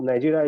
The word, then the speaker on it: Niger: a ninja Republic Republic is a francophone country so their name is pronounced the arrow at the end is almost silent so it's a republic because Nigeria is a anglophone our